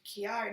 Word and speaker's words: Chiari: know in instability in Chiari malformation and I'm pronouncing it that way because that's like Jerry okay I don't think